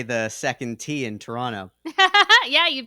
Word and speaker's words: Toronto: on in our podcasting career that you don't pronounce the second te no it's Toronto it reminds us of there's a Chicago Bread